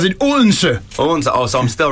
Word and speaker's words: Odense: You really pronounce it Odense.